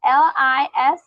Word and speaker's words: listen: The stress is in the first syllable, on the first syllable.